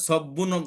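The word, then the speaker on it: سَبٌّ: আচ্ছা এখন কি হলো সব্বুন সব হবে না সবুন হবে সব্বুন হবে হ্যাঁ সব্বুন হবে এখান থেকে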